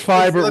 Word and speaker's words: PHIBER: But it's spelled differently. It's ph instead of f. It's ph.